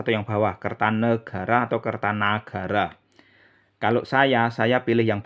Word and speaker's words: Kertanagara: itu adalah nama Sansekerta dalam bahasa Sansekerta tidak ada kosakata negara yang ada itu Nagara ya jadi jangan karena kita sering bicara bahasa Indonesia lantas nama orang pada era Jawa kuno di disebut menggunakan ejaan Indonesia Kertanegara itu keliru yang benar itu kertanagara ya jadi saya pilih